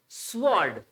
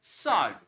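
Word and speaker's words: sword: है मिसी वस एंड स्वर्ड बहुत ने पढ़ा होगा स्वर्ड गलत डब्लू को निकाल दो आर को निकाल दो जो बचा वो इसका साउंड है स्ड स्ड नट स्वर्ड तो सभी को एक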